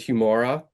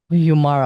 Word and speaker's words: Humaura: It's we I guess we pronounce it humor. Humor. Okay. Humor. So, it's like humor.